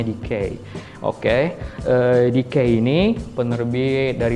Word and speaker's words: DK: ini juga logonya ya dkn teman-teman ya JK membacanya dikei Oke EDC ini penerbit dari luar negeri yang